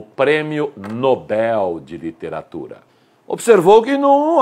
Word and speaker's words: Nobel: se não houver assento é oxítona por isso nobel evidentemente há dúvida ocorre